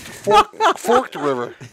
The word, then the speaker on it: Forked River: That was, and I learned that Forked River is pronounced Forked River. I never knew that. The other way around.